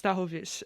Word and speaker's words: Stachowicz: everyone knows me as Stachowicz. My last name is technically pronounced Stachowicz, and that's how the rest of my family pronounces it. That's why. That's the very Polish way of saying it.